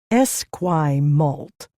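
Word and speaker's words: Esquimalt: We're in Esquay Malt now, headed into Victoria proper. He pronounced the unfamiliar word Esquay Malt.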